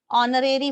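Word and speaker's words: honorary: काम कर रहे हैं आप उसको ऑनरेरी बोलते हैं तो यह आप याद रखेंगे हिस स्टेच्योर है बट साइलेंट होता है तो यह होता है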